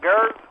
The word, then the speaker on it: Gers: And excuse me if I pronounce his name wrong. Is it Janet Gers?